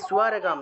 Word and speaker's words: স্বর্গম: হত ওয়া প্রাপ্স্যসি স্বর্গম, দন্তের সাথে বফলা থাকায় সুয়া উচ্চারণ, স্বর্গম, অনুসার থাকায় ম।